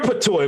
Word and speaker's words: patois: Let me hear your patois, man.